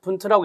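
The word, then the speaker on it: Wundt: 분트라고 읽습니다.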